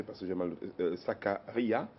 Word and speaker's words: Sakarya: On va parler aujourd'hui de l'université je vais mal prononcer parce que j'ai mal. Sakarya. Sakaria, oui.